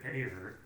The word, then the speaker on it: Ayer: Well, speaking of Suicide Squad, David Ayer, is that how you say it?